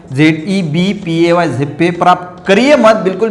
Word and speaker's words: ZebPay: होनी चाहिए, तो आप जो है वो एक ज़ेप्पे जो है वो एक अच्छा है।